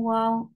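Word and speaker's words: و: Circle your lips for waw.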